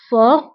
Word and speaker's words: fort: هنا أيضا تي لا تنطق في آخر الكلمة fort.